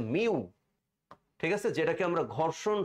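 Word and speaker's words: μ: টু এটার উচ্চারণ কি এটার উচ্চারণ হচ্ছে মিউ ঠিক আছে যেটাকে আমরা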